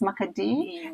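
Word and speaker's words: Makadii: In Shauna, you say maki. Oh, yes. Makadi.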